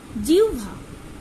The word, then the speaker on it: জিহ্বা: আবার দেখো জিহ্বা। আমরা কি লিখছি? জিহ্বা। আমরা কি কেউ জিহ বা লিখছি? না, বলছিও না, লিখছিও না। তাহলে দেখো এখানে কিন্তু উচ্চারণ কার মতো হচ্ছে, ডাব্লিউ মতো।